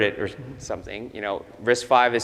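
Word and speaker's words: RISC-V: maybe you heard it there's something you know risk 5 is spelled as risk fee right so when Chris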